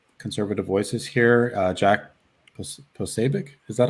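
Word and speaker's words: Posobiec: been um censoring conservative voices here uh jack posabic is that how you say his name yeah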